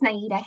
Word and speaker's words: Naidah: recovery of DC and am I pronouncing your name correctly yes it's naidah now thank you go ahead